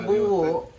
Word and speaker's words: buo: buho M buo buo actually buo ang pronunciation pero ang spelling niya is buo bu o dahil kasi puro batanguen